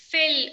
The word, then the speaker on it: fail: a i l f you feel you said feel feel or fail fail when when we uh uh failing in exam